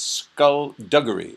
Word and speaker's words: skullduggery: and they say it's skull duggary skull duggary the g is hard skull duggary anyway embalmer